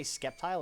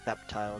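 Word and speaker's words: Sceptile: You say Skeptile or Septile? Septile is what I normally say. You pronounce the C. C, not it's a C, not a K. So I say Septile. Uh, like a scepter.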